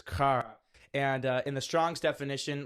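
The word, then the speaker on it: χαρά: the Greek word for it is pronounced, I'm pronouncing this correctly, but it's kara.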